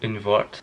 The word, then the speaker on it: Un Wort: it, oh my god, Un Wort? I think that's it. In Germany they pronounce the W's as V's, don't they? So Un Wort.